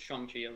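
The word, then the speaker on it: Shang-Chi: early on one of my friends like it's shangi like that would be chuni it is yeah that's just the actual way pronounce yeah right I didn't know as a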